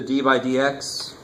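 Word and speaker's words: d/dx: So Leibniz used the d by dx, and that's actually how you say it.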